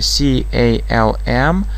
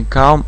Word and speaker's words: calm: Пишется C-A-L-M, а просто не calm, а calm.